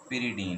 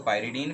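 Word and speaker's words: pyridine: ये कुछ लोग इसको पायरिडीन भी पढ़ते हैं, कुछ लोग इसे पिरिडीन भी कहीं पे प्रोनाउंस किया जाता है। तो आपको जैसे सही लगे आप प्रोनाउंस कर सकते हैं, इसे बोल सकते हैं।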